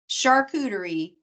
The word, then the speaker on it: charcuterie: Champagne, charcuterie, Chardonnay.